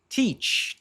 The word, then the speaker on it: teach: Teach, teach. Essas duas vogais aqui se pronunciam basicamente como um i.